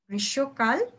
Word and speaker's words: গ্রীষ্মকাল: এটা হচ্ছে ম ফলা। এই ম ফলাটা উচ্চারণ হয় না। গ্রীষ্মকাল, উষ্ণা উচ্চারণ হবে।